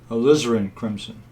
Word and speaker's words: alizarin crimson: I think what I'll do, yeah, the correct pronunciation of that paint is alizarin crimson.